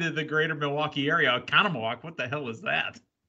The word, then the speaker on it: Oconomowoc: of lightning therefore the show went on in oconomowoc wisconsin to spell that o c o n o m o